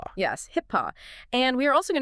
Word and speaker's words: HIPAA: saying it quite a bit today, that is HIPPA. Yes, HIPPA.